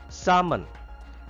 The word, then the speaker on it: salmon: leave some job design salmon l is silent here salmon it is a